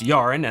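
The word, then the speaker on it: Jarin: For example, some people would pronounce that Jaran, or maybe Jaren, who knows? But for me, it's Yaran, and for me, clearly they're an analog of the Irish, so like the medieval Irish.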